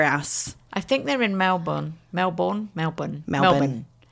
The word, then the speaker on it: Melbourne: I think they're in Melbourne. Melbourne. It's Melbourne, but nobody says Melbourne. No, it's like Melbourne.